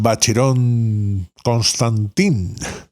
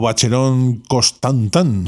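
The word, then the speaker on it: Vacheron Constantin: la estética de los bacheron constantín o bacherón constan tan tan según lo pronuncies en español o francés por último Una sugerencia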